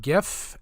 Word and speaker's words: GIF: together now a quick aside it is actually pronounced gif and this is actually important otherwise I wouldn't